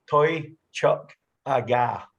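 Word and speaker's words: Toiteach A Dhà: It's pronounced Toy Chuck Aga.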